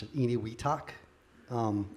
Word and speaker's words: Enewetak: And it's something called Eniwetak Atoll. And it's spelled Enewetak.